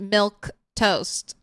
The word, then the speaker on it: Milquetoast: Cuz it looks like I just pronounce it milktoast.